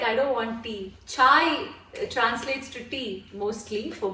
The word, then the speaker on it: Chayi: So it's spelt D-O-N-T, don't, and C-H-A-Y-I, Chai. Is that the tea we drink, Shourov? No, and I put the Y in, so it wouldn't be chai.